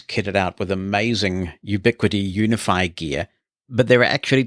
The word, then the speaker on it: UniFi: So you've got the more professional business-grade technology called Unify from Ubiquiti. And for those who've not seen that written down, it is spelled UNIFI.